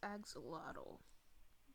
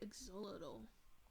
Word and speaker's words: axolotl: eggs it's a little i know it's pronounced axolotl but it it sounds more right to say axolotl to me i am going